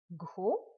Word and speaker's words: gros: Gros. Un gros nez. Fat nose. Un gros nez. Il a un gros nez. Gros. The letter S will not be pronounced.